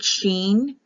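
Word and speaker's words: שין: s i sin scene the I is pronounced like an e so a Sheen or scene so when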